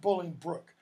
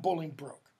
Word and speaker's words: Bolingbroke: courtship blowing birds and it's pronounced Bolingbroke not bullying broke bully burns how he